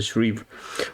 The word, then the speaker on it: Shreve: same thing okay or the shreve shrieve let's let me pronounce this as a shrieve okay so the first